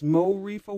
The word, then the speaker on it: MoReefa: It's MoReefa Watson.